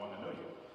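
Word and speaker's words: Whanganui: a little town called Wanganui. Back then it wasn't spelled with an H, then it had an H, but if you live there you don't pronounce the H, just in case you're wondering.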